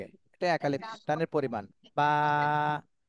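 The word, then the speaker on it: باء: আচ্ছা, তহমিনা বেগম আপু, আপনি এই হরফটার নাম বলেন।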